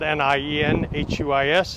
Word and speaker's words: Nienhuis: Again, my name is Hernando County Sheriff Nienhuis, spelled N-I-E-N-H-U-I-S, and it's pronounced Nienhuis.